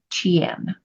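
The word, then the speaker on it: Ch'ien: gate one in the iching is Chen so it's spelled CH and then there's a apostrophe and then I E en so Chen and Barry's uh smaller description for this gate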